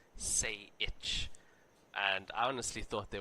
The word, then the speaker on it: Sajik: and we were saying, because he spelled Sajik, S-A-J. That's how his name is spelled. And we were saying Sajik, and then the Australians are like, no, it's Say Itch.